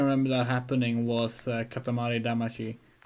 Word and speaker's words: Damacy: The last time we can remember that happening was Katamari Damacy. Why do we pronounce it like that? It's same name in English. We didn't need to go with the Damaji pronunciation.